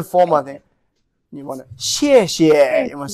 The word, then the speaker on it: 谢谢: 谢谢谢谢谢谢 second character could be lower, weaker.谢谢。谢谢。 Yeah, that's a very daily speaking. But when you in a very formal thing, you want to 谢谢 you want to say emphasize the second one.